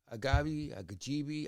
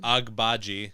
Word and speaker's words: Agbaji: Agajibi. I never say their names right. Another dog who plays mad defense. And the rookie they got, their 19-year-old. Agbaji. How do you say his name? Agbaji.